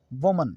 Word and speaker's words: women: वह मन वुमन वुमन और इसका जो प्लूरल नंबर है womenpaarkhee4u न वह मैन पड़ते हैं ना वह मैन वूमेन तो वह मैन गलत है सही उच्चारण है वीमेन और नेक्स्ट वर्ड मारा